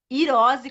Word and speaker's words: Hirose: noite professores e ir eu sempre falo o nome da simone errado então eu tenho que aprender como é que pronuncia hirose com a garra virose né o joão gabriel